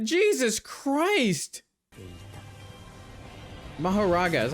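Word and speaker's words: Mahoraga: anyone to survive fighting sakuna like Jesus Christ mahara is how you pronounce it that is just that that is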